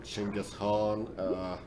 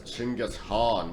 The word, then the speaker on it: Genghis Khan: think he'd know to properly pronounce it as Genghis Khan, not Genghis Khan.